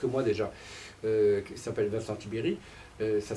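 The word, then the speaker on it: Tiberj: y a quelques mois déjà, qui s'appelle Vincent Tiberi, ça s'écrit Tiberge, mais ça se prononce Tiberi, qui dit au fond la société n'est pas à droite.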